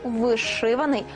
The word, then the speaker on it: вишиваний: на противагу у прикметнику вишиваний жодної варіативності немає правильно наголошувати лише другий склад вишивана со рочка вишиваний